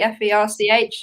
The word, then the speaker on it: ferch: But the woman's case is Ferch. Am I pronouncing that properly? Ferch, and that's the daughter of.